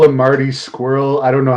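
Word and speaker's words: Scurll: I'm trying to think how I pronounce it. Scroll. Scroll.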